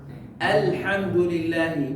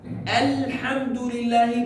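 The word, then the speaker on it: الحمد لله: Dan juga Alhamdulillahi. Bacanya seperti al. Jadi tidak boleh qalqalah. Lamnya bukan qalqalah, ya. Ya, jadi dimatiin huruf lam karena kayak di atasnya apa? Sukun. Ya. Alhamdulillahi bukan al.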